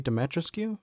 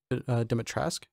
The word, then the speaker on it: Dimitrescu: I think I pronounced her name wrong. I think I said Lady Dimitrescu, but I think it's actually Dimitrescu.